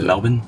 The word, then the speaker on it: Melbourne: I'm the pronunciation guy I'm really struggling with the pronunciation of Melbourne I am too Melbourne since when does an R make a bin sound do you feel like